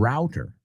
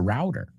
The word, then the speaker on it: router: In the United States, it's a router. In British English, it's a router. They say it like you in Spanish because what does it do? it um it right that's that's why it's called it. So um again let's review it. The first word in British English is root. In American English it's normally route. There are exceptions. And that second word doesn't matter where you're from. It's always root.